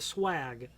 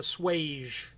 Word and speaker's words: swage: part of a hinge called what i pronounced it is called the swag some people call it the swage SWA GE it is basically how the